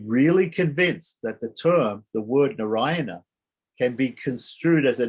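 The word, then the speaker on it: नारायण: So the word Narayana has two ends. The first end is dental, na, Narayana, na. The last syllable is a cerebral na.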